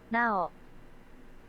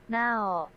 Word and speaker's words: Nao: No, Google, how to pronounce Japanese names. Here we go. Now. Is that not what I said? Now.